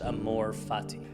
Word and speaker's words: amor fati: there's a Latin phrase pronounced Amor Fati it's one of the more powerful ideas I've